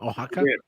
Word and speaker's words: Oaxaca: Because it's the Oaxaca. Did I do that right, Sam? Oaxaca. Yes. Thank you.